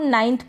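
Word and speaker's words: ninth: और इसको हम नाइन्थ पढ़ेंगे, निन्थ नहीं पढ़ेंगे, नाइन्थ। ये जो आई है इसका उच्चारण आई करके हो रहा है, कहीं पर ई करके भी होता है, निन्थ नहीं पढ़ेंगे, नाइन्थ पढ़ेंगे। तो यहाँ पर क्लियर हो गया आपको।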